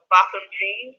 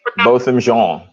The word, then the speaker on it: Botham Jean: You probably seen this on Facebook and Instagram and stuff about I don't know how to pronounce his name correctly. Botham Jean. Yeah, Botham. Botham Jean. Botham Jean.